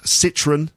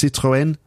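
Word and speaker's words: Citroën: renault we talk about citroen uh in french it's citroen uh and uh peugeot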